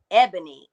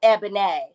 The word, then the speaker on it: Ebony: walked across the stage, she started to say my name um Ebony. And I wanted her to say it, you know, correctly. And so I was like, "No, Eban."